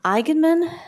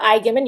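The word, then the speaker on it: Eignmann: Floyd yes all right next we have enman hi can you hear me yes hi my name is Igman you said it perfectly his last name is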